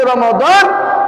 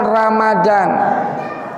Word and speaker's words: Ramadan: Maka biasanya kalau bulan suci Ramadan itu cuacanya terik atau panas. Jadi salah kalau orang mengucapkan Ramadan. Yang betul Ramadan. Coba bilang. Yang kuat Ramadan.